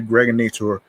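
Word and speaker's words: Gregnator: This is your man and homie aka the Greg Nator rhymes with now or later.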